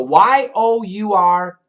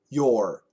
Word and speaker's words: you're: Pronunciation is actually different. So Y-O-U-R, your. Y-O-U apostrophe R-E, your. However, many Americans say Y-O-U apostrophe R-E, they say your. The same as Y-O-U-R.